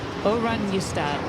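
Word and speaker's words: Oranjestad: Eric, super chat says the Aruba town is pronounced Orunystati. Orunystad.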